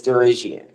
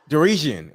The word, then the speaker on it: Derian: what is your name the pronunciation is derian derian okay gotcha gotcha got